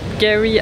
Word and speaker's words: K'gari: bon avant que j'oublie ça s'est toujours appelé kgary Island apparemment il prononce pas le cas donc ils appelleent ça Gary Island en gros et ça veut dire paradis